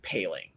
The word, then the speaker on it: Poehling: week or two weeks uh it is ryan paling wanted to get that out of the way